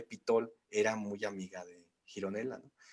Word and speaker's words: Gironella: es un dibujo de Gironella o sí, Gironella, ¿no? Así se pronuncia, Gironella, Sí.